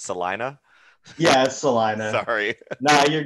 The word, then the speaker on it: Salina: very cool is it so i know i said it wrong before it's celina yes celina sorry nah